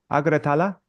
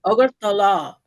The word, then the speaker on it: Agartala: But then sometimes because sometimes they write the place name so strangely, I get confused how to pronounce it. Okay, so Yeah, Agratala, is that you think that? Agartala.